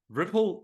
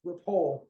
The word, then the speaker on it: Ripoll: last name is pronounced repol um but I accept Ripple because it's just like how everybody says it they make ripples that's